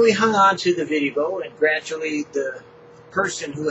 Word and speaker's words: VidDevo: We're recording today a Vivo, and that's spelled V-I-D-D-E-V-O, for KAYACKANOE. Yeah, all these words, right? Now, how do you spell that? That's a good question. You see, Vivo, V-I-D-D-E-V-O, is not video, but video devotional. VidDevo.